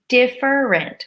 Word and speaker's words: different: same they are different it's also possible to say different different which would be three syllables but often we squish it together different with two syllables you'll notice with all